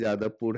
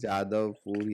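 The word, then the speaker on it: যাদবপুর: सवाल है कि यादवपुर यादवपुर तो य जो है य ध्वनि जो है नहीं होने के कारण जो बांग्ला है और अंगिका ये सब जगह पर य को जो है ज उच्चारण किया जाता है।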